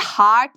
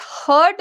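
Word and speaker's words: heart: related है इसको आप कोई कोई लोग हर्ट भी बोलते हैं हर्ट लेकिन बच्चे इसको हर्ट नहीं प्रोनाउंस करते हर्ट मतलब यह होता है किसी को नुकसान पहुंचाना इसको हम हार्ट पढ़ेंगे ठीक है हार्ट अच्छा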